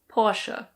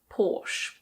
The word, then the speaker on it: Porsche: In German this is pronounced Porsche. Porsche. In British English it's Porsche. Porsche. There are some people who say Porsche, but normally it's people who know a lot about cars.